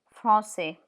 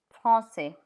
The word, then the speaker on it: français: Comme ça, here we use the cedilla, la cedi, to bring in the S sound. France, France, the C in front of E, it has the sound France, but here we've had to employ la cedi, français, français.